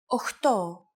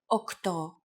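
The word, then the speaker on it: οκτώ: Sometimes, though, especially in casual conversation, Greeks also use efta instead of epta, ochto instead of okto, and ennia instead of enea.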